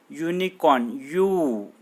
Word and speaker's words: unicorn: But listen, student, just pronounce this word unicorn. Unicorn. U is not a vowel sound. Initially I told you wrong. U is not a vowel sound, it is a consonant sound.